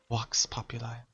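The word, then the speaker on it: vox populi: popular it sucks because it's not pronounced Vox it's pronounced walks walks popular Latin sucks I love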